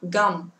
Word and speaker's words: gum: Gum, chứ phải là căm, căm, căm nhá các bạn ơi. Không phải là chữ k đâu. Chỉ đọc là g, không bật hơi nhá.